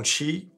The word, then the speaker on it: Xi: publique du président Trump, selon laquelle le président Xi, oui, ça se prononce Xi, pas Xi, ou Xi, hein, ça